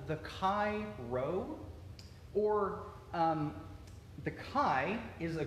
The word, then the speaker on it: Chi Rho: but it's but it but it is pronounced as an R and the Chi Rho